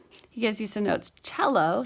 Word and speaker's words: cello: gives you some notes cello c l l o is an Italian word and begins with the CH sound ared is the past